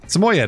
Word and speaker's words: Samoyed: Is that how you say it? Samoyed? Samoyed. That's what Google says. Samoyed.